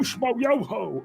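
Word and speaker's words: Schmoyoho: Accent on the yo. Oh, Schmo Yoho!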